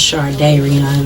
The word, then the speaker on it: Shardayreon: Am I saying your name when I say Shardayreon? It's pronounced, it's close enough, Shardayreon. Okay. It's pronounced Shardayreon, though.